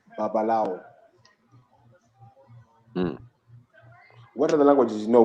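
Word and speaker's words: Babalawo: We talked a bit about Nimrod, and I said the name Babalau. I mispronounced it. Yes, on purpose. But I think the real name is Babalao.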